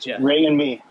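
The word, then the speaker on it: Rémi: tend to call me remy and it's uh it is what it is but ray and me yeah yeah it's it's pronounced like r-a-y-m-e sort of you know yep and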